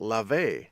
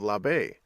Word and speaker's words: labe: might be asking well why are you pronouncing it love a instead of la baie well that's because there